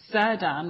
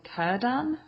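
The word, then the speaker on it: Círdan: of strange to me all the c's are supposed to be pronounced it was weird i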